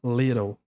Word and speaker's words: little: E aqui essa palavra little, little termina com som de L.